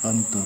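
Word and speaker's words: أنتَ: Anta, pronunciation of this word anta in Arabic, you, singular person.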